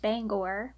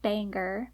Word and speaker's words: Bangor: near Bangor today yes it is pronounced Bangor not Banger no matter what Google tells you growing up I loved